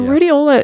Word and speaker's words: Rhodiola: And then the other supplement is rhodiola rosacea. Am I pronouncing that correctly? Yeah, so rhodiola is very effective.